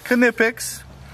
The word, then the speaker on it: Knipex: So I got the Knipex, and yes, the K is pronounced. It is Knipex.